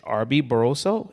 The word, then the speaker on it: Arby Barroso: His name is Arby-Barraso, if I'm pronounce it correctly.